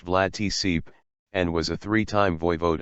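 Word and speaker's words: Vlad Țepeș: He was posthumously dubbed Vlad the Impaler, Romanian, Vlad Ep, pronounced Vlad Tsip, and was a three-time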